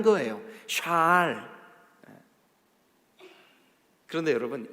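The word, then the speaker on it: שָׁאַל: 우리 번역에는 여호수아가 요구한 성읍, 그 요구하다라고 하는 말이 히브리 말로 샬 이렇게 발음해요.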